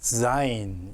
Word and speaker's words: zain: 자, 요 zain을 발음하기를 어려워하시는 분들이 많습니다. 어쨌든 우리말로는 지읒으로 음력을 해야 되는데 이게 우리말 지읒바 자인이 아닙니다. 유성음으로 zain이라고 발음을 하셔야 돼요.